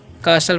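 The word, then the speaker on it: castle: चाहिए ठीक है तो टी साइलेंट इसमें ध्यान रखना है तो इसे हम क्या पढ़ते हैं कासल पढ़ते हैं क्या पढ़ते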